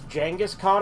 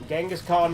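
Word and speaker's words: Genghis Khan: My uh my friend like uh one time tried to correct me. He's like, "It's Djangghaskhan." I'm like, "Only if you're speaking Chinese. Genghaskhan is the English pronunciation, you moron."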